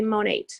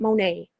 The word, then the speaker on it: Monate: By the way, you do say Monate. It's not Monet. You say the T.